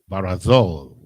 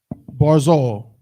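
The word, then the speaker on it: ברזל: three chances just two that's correct barzal is how you pronounce that word who knows what it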